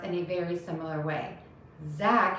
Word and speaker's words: Zack: a very similar way zack has a z don't touch the teeth with your tongue jack has a j touch your teeth to start that sound zap jack zack jack